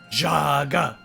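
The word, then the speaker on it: Zhaga: just hear them chanting, Jaga, Jaga, Jaga, Jaga. And the dream ends. Okay. And for the sake of continuity, I will spell it for you. It is Z-H-A-G-A. Like Dr. Zhivago.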